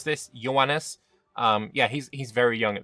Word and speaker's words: Ioannis: I had some help in my comments about how to pronounce this. Ioannis.